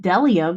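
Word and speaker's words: bdellium: what other letter um B is silent when it's followed by what other I mean there's Jay's favorite word of b as in delium because it's spelled bedellium um I don't think that's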